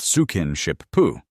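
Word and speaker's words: スキンシップ: Skinship, pronounced sukinshipu.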